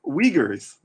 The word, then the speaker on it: Uyghur: The Chinese are killing Uyghurs who are Muslims. Uyghurs. With a W, people. W-I-I. No, not Uyghurs. Is it W-E-I? E-I? Oh, Lord. How about Chinese Muslims? Oh, there you go. Uyghurs.